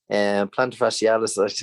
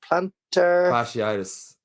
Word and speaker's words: plantar fasciitis: Plantar fascialis, or whatever way you pronounce it. I probably butchered that. You did. But I think it's, what is it, plantar fasciitis.